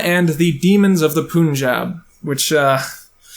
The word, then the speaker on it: Punjab: So I'm gathering that it's pronounced Punjab, which doesn't sound right to me. Or at least it won't sound right when my white ass says it.